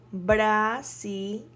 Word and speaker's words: brasileño: Yeah, so brasileño, brasileño. The sílaba tónica, the accent mark goes in, well, there is no accent mark, but the stress of the word is in le, brasileño.